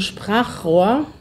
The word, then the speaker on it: Sprachrohr: auch schwer lieber Michael denn chr ist nicht die beste Kombination Sprachrohr wenn man das schnell aussprechen will ist es auch für deutsche schwierig Sprachrohr Sprachrohr warum ist